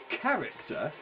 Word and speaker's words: character: But then there are words like mech, character, echidna. Character, echidna. It should be pronounced like that, but it's not. It's pronounced like CK.